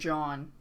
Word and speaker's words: Jean: Yeah, she's named John. John Boob. But it's spelled like Jean, yeah.